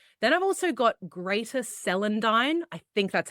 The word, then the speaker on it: celandine: Then I've also got greater celandine. I think that's how you pronounce it.